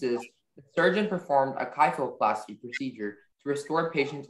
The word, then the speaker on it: kyphoplasty: your word is kyphoplasty can you repeat the word again kyphoplasty have everything yeah sure um kyphoplasty is the only pronunciation it's a noun the first part is